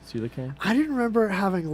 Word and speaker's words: Coelacanth: Coelacanth. Yeah, that's how it's pronounced. Coelacanth.